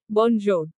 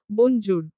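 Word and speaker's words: bonjour: হয় ফরাসিতে কিভাবে বলি ফরাসিতে আমরা বলি বঞ্জোর মিষ্টি তার উচ্চারণের চেষ্টা করল বনজুর না আপু একটু নরম করে বলুন শুনুন বঞ্জু মিষ্টি কিছুক্ষণ চর্চা করার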